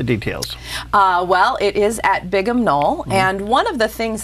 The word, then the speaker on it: Bigham Knoll: And it's spelled like Big Ham, B-I-G-H-A-M, Knoll, okay.